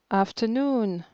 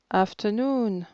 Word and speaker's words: afternoon: l'essonne l'essonne première syllabe afternoon afternoon troisième et dernière syllabe y venaient et venait